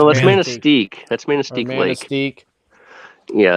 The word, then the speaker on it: Manistee: Manitiqua? Is that how you say it? I don't know how you say it. Manatee? Manitique? Hold on, I gotta zoom in. Hold on. Yeah, I think it's that's Manistee.